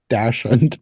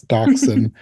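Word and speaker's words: dachshund: the Stray male doc I always want to say dashen because of the way it's spelled but it's docen um he voiced the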